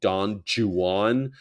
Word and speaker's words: Don Juan: called him Don Juan isn't it weird that the guy who wrote Don Juan pronounced it Don Jan because he didn't like the way you know English people they don't pronounce Juan they don't do that English Don Jan he of course became